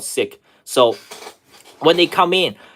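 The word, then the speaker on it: Sikh: in they're siks so is it called siik or seik I think it's called siik so when they come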